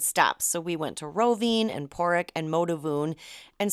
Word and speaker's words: Rovinj: So our first stop was Rovinj, and that's Rovinj.